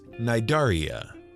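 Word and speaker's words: Cnidaria: of animals known as naidaria that's c-n-i-d-a-r-i-a the c is silent and they are a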